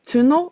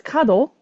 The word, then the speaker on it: 角: If it's pronounced as tsuno, it means horn. If it's pronounced as kado, it means corner, like the corner of a house.